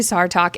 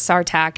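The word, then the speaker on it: Sartaq: know for me yeah perfectly acceptable to say SAR talk in the audio book she says sarac and it still is taking me a while to adjust to so we might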